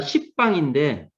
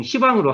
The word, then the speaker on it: 시방: 이게 한자가 십방인데 이게 이제 우리가 발음할 때에서 보통 시방으로 하잖아요.